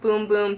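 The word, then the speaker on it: Bum Bum: Now, it's the same exact scent as the Cherrosa 62 or the Boom Boom Cream. And yes, it's pronounced Boom Boom.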